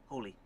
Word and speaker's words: Holy: is going to be you your statement officially Holly or holy holy holy wow okay but it's but it's spelled Holly on the card I I I